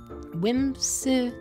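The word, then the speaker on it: Whimsiphae: Whimsify. That's how it's pronounced. But it's spelled W-H-I-M-S-I-P-H-A-E.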